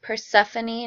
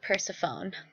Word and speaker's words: Persephone: And it's pronounced Persephone, not Persephone.